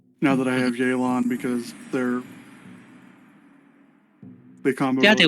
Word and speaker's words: Yelan: Sorry, I keep thinking of pronouncing her name in Chinese. Uh, I thought it Brain. was Elon, No, like the billionaire. no, it's Yelan. This is actually a pronunciation.